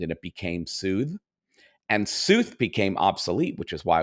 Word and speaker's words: Sooth: more about you or Soothe, or, just... Oh, sure. Oh, I'm going to make one small correction. It's Sooth. Yes. Rhymes with truth.